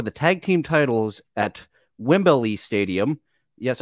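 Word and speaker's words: Wembley: Tag Team titles at Wimberley Stadium yes I will always call it wimbelly because of the way Hulk Hogan pronounced it uh in front of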